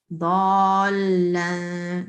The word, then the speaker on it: ضَالًّا: You see this shad here on the Yes. it has tanveen as well. So Yeah. this you have to make sure that you're pronouncing when you're reciting. ضَالًّا, like that. So the person who is listening, they know that there's a shad.